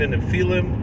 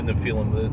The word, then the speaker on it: Nephilim: An animal, it doesn't necessarily mean that they're biologically the children of the Nephilim, or as some people they pronounce it Nephilim, but the more proper Hebrew would probably be Nephilim.